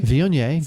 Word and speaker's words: Viognier: I'm not good at pronunciation. So I know the first one's like Viognier. Viognier, good.